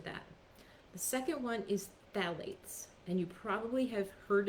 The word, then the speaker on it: phthalates: the second one is phthalates and you probably have heard of that word it's actually spelled with a ph on the beginning that's silent so it's p-h-t-h-a-l-a-t-e-s and